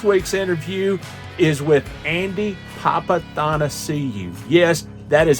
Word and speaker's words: Papathanassiou: Houston and this week's interview is with Andy papath see you yes that is how you pronounce it Andy papath seeu now he lets people call him Andy papa